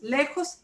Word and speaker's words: lejos: Lejos termina en S. It ends in an S. Words that end in a vowel or N or S stress the second to last syllable.